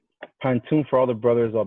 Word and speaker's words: pantoum: And Pantoum is spelled like tomb, P-A-N-T-O-M-E, even though the Pantoum is spelled T-O-U-M-E.